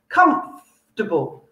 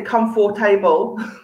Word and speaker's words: comfortable: very soft it's very comfortable comfortable okay again don't say come for table sounds a bit like a robot come come can